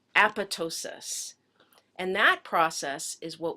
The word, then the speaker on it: apoptosis: horribly horrible looking word it looks like it should be pronounced apoptosis but we pronounce it as apotosis and that process is